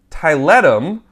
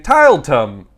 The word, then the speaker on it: Tiletum: Board and Dice is also releasing Tiletum, and that's how you say it, because in my head I was saying Tiletum all the time. Tiletum. Do you want to play Tiletum? It's Tiletum. Tiletum.